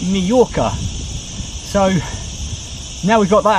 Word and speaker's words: Mallorca: a double l and in english you spelled the word with a a j but however you're spelling it you always pronounce it majorca so now we've got